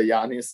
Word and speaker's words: Giannis: de Adrian Wojnarowski de ESPN sur l'histoire de Giannis, donc quand il était jeune en Grèce. Tu vois que Kevin prononce pas le nom comme moi.